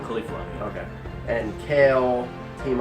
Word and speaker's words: Caulifla: Caulifla.